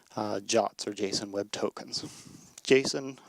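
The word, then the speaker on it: JWT: Allah for something called jots or JSON web tokens jason web tokens pronounced ja like the english word to write something quickly are meant to be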